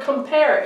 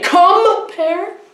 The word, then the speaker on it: compare: this would you say comma pair or would you say compare alright the stress is on pair so the comp is